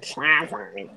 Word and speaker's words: Schlafly: Schlafly.